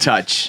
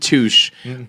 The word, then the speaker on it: Touche: Delati and Touch. Deloitte and Touche. When you work for an accounting firm, and the name of your company rhymes with douche, it was like just open season every time.